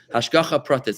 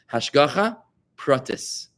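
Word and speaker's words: השגחה פרטית: Hashgacha pratis. Hashgacha. I'm going to spell it for you so you can write it down if you want to. Hashgacha. It's 2 words. Hash. Hash. Goacha. Hashgocha. Protis. Protis.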